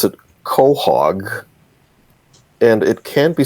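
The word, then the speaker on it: chog: it and then spell it I it's I pronounce it Cog and it can be spelled c h o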